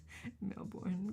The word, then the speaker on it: Melbourne: Australians don't pronounce half the syllables. Melbourne.